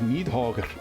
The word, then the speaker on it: Nidhogg: scholars are torn on whether you pronounce the R. I like to think it's like a half sound, like Nidhogger. Yeah.